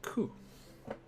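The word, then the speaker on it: く: Get ready for the next character, Ku, which is basically the K without the left bar. Ku. It is a consonant followed by a vowel and makes up a single syllable. You pronounce this one as Ku. And is no other way to write that, so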